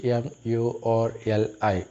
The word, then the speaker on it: Murli: It is spelled M-U-R-L-I, Murli.